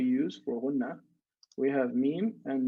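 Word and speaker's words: ميم: Mim. You see when I say mim, I'm moving my lips.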